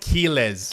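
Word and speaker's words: Quiles: So Quz, whatever his name is, he trains with the Marquez brothers. The Marquez So it's pronounced Kelesz.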